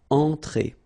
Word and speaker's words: entrée: Okay, remember, well, technically this final here is not pronounced, so phonetically it doesn't exist, so it's et, okay? Entrée. Remember, nasal here, en, entrée.